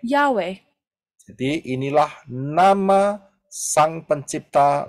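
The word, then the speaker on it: Yahweh: he dan pengucapannya adalah and the pronunciation is yahwe yahwe jadi inilah nama Sang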